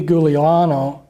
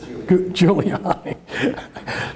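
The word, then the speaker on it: Giuliani: involved in all this Rudy guliano I'm not pronouncing the name I didn't pronounce I just juliani there you go he was the mayor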